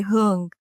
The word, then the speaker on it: Huong: give it a go you can say hung H oh nice that's